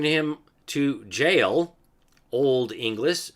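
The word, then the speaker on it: gaol: of the person by secretly H him to jail Old English g a o l h kind of like policy which we pronounce as police today that's old English for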